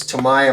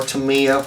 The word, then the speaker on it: Tamiya: I found these um this is Tamiya masking tape or to me up whichever way you want to pronounce it it comes in I